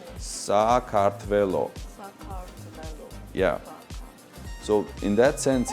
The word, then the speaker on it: Sakartvelo: So you write these letters and you pronounce them exactly the same as letters. So Sakartvelo.